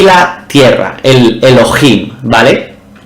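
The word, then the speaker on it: אֱלֹהִים: Y si pulsamos vemos que se pronuncia Elohim.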